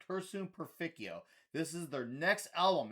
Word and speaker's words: Cursum Perficio: It's Cursum Perficio.